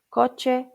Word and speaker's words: coche: So it's a ch sound like in cheese, coche, ducha, fecha, and the name is che.